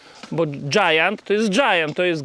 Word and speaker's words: Giant: Why do we even say “Jitown”? Because Giant is Giant. It’s a giant.